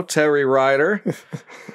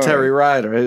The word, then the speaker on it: Terry Rider: you would well welcome to the show terry ryder first off is that how you pronounce that yes it is show is s-h-o-w